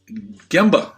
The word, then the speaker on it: Gemba: Tell me if I'm saying it wrong. The Gemba Group, right? And so, that's right. Yep. You've nailed it.